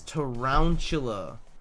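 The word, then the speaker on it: Tarountula: It's tarantula. Like round, like a ball.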